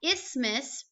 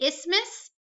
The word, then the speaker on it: isthmus: we might remember that isthmus rhymes with Christmas all right so say isthmus one more time isthmus I know it's confusing that there's a th in there but it is just isthmus and then the last